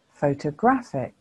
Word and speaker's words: photograph: before the first p that shows you that the first syllable is the stressed syllable photograph if the first